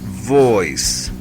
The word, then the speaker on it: voice: La letra V se pronuncia con los dientes de arriba hacia el labio de abajo y decimos V. V. V. Como en la palabra voice.